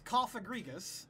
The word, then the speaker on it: Cofagrigus: This Cofagrigus, that is how you pronounce that, right? Yes. Okay, because I'm super bad at Pokemon pronunciation, by the way. That's fine. Okay. Cofagrigus looks at you, and it looks at this